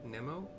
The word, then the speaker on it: Mnemo: It's Mary, Nancy, E, Mary, O. Nemo? Nemo? Whatever. Like mnemonic, but whatever.